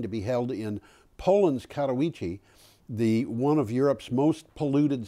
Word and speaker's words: Katowice: And by the way, that's pronounced Katowice. Katowice.